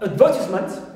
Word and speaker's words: advertisement: Also, we have advertisement, normally the stem, the verb is advert, so a is stressed, first syllable, but in advertisement we find verb, so here we have the stress shifts here, clear, although it ends with meant.